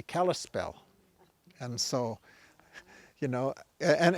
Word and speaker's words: Kalispel: What they called themselves was Clispe, and that became mispronounced to be Kalispel.